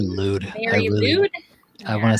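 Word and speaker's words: Mari Lwyd: Mary Lude. I want to say lewd. Lucid, lewd. Very well. The way it's pronounced is very lewd. Very lewd. It's a Welsh.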